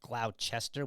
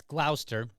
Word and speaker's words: Gloucester: But it's Gloucester. That E is kind of like almost silent there.